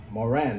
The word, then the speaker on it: Moran: Or Moran, right? That's how you say it.